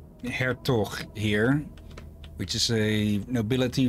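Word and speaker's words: Hertog: English all right can I say that again hair talk h-e-r-t-o-g it's almost for dry hair okay originally dug in anyway what it's pronounced Avatar okay do you pronounce it that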